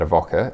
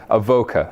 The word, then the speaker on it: Avoka: all right chief experience the evoke a bit wrong oh I see you knew or pronounce something wrong Avoca right nice it's Corcoran and Avoca there we go beautiful